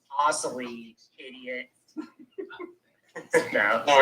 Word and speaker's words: Asselin: It's Asselin, idiot.